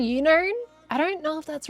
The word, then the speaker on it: Unown: You just had like unknown. Not unknown, there doesn't have a K.